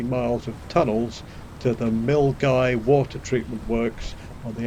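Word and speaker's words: Milngavie: of tunnels to the milgai water treatment works on the outskirts of glasgow incidentally mill guy is spelt m i l n g a v i e but apparently it's pronounced mill guy which was news to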